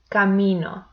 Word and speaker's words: camino: Camino. So the second syllable is the one where I put more intensity.